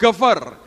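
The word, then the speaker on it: גבר: Yang ketiga, orang menyebut dengan kata gever. Tulisannya geber, bacanya gever.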